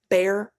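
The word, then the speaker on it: Bexar: It's the same thing as Bear County, Texas. B E X A R Bear.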